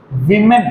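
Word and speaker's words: women: इसी तरह से वुमन, इट बिकम्स विमेन। मैंने उस दिन भी बताया था, इसको क्या प्रोनाउंस करना है? विमेन।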